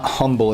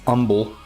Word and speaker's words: Humble: North of umble. The H is silent for those in the chat. It's not humble, it's umbble.